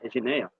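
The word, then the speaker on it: γενεά: Terceiro, a palavra grega traduzida por geração em Mateus 24, 34 é Geneia, que se assim se pronuncia, Geneia, é uma palavra que normalmente significa geração, posteridade, mas que às vezes pode significar raça.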